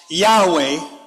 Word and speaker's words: Yahweh: It said that we saw in chapter 1 that Yashareel, or Israel name for God, was Yod-Heh-Wah-Heh, perhaps pronounced Yahweh, or which we know as Yahuwah.